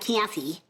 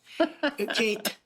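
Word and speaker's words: Käthe: a woman it's not Kathy it's not Kathy it's K Kate because there's no much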